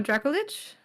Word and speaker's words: Dracolich: I mean, you pronounce my name right? Right? No, the other one. The last name. Oh, Dracolich?